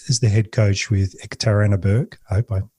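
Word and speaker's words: Yekaterinburg: Six years as the head coach with Ekitarannab. I hope I pronounced that correctly. Ikatarinberg.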